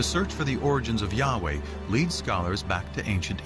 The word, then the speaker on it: Yahweh: was these four letters which in English would be YH wh which we think were probably pronounced something like Yahweh but Yahweh only appears